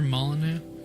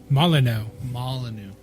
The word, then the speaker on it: Molyneux: my loop its monolith the X is silent it's like your rule oh Molyneux it's like your rule oh yeah Molineux okay well do you